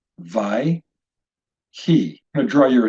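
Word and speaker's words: וַיְהִי: That being said, this particular example, we would pronounce this word vai, he. 2 syllables, vai, he.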